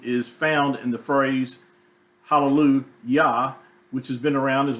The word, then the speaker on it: Hallelujah: And it's pronounced the same way in every language. They do not change the way that word is pronounced. It's pronounced hallelujah in French, in German, or whatever language. It's pronounced as hallelujah.